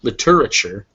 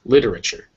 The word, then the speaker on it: literature: syllables in here liter that apostrophe always comes before the stress syllable so it lets us know that is the stress syllable here so it's not literature or literature it's literature finally this weird looking